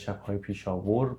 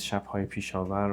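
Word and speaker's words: Shabhaye Peshawar: It says Shabhay Pisha War, but apparently the correct pronunciation is Shabhay Pisha Var, which is a place.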